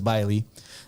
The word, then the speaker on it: Billy: His name is Billy for short, but the I is pronounced like a long I, so it's Biley.